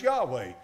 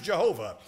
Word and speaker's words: Jehovah: say it's Jehovah or some say it's Yahweh. I choose Jehovah. I choose Jehovah because the Masoretes put the vowel points on it. And when they put the vowel points on it, we pronounce it that way.